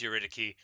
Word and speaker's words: Eurydice: Of course, it's pronounced Eurydice, but everybody says the C's wrong, and so I do too.